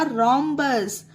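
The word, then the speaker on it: rhombus: हैं एग्जांपल जैसे कि आर एच ओ एम बी यू एस तो इसे पढ़ा जाएगा रमस यह देखिए आर के बाद जस्ट एच आया है तो एच को यहां पर सोचिए है ही नहीं तो यहां पर एच को हा नहीं प्रोनाउंस किया गया है यहां पर रो आर्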